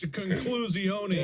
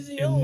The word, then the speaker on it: conclusione: It's conclusione. Yeah. It's actually Conclusione. literally how you say it in Italian.